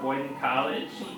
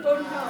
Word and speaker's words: Bowdoin College: Before that, she was a graduate of Boyden College. Did I pronounce that right? Bowdoin College.